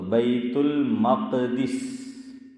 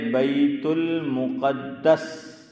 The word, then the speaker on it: بیت المقدس: میم پر زبر ذاکر بھائی اور قاف پر کہاں زیر یار؟ جزم، جزاک اللہ، سکون. تو بیت المقدس یہ بھی صحیح ہے.